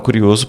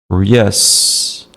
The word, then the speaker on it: curious: de speak ever spen on mas eu estava curioso para conhecê-los Então tinha falado por telefone mas